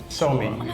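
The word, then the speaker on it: Suomi: in a different way in Finland you don't you don't say Finland you say so me so I heard that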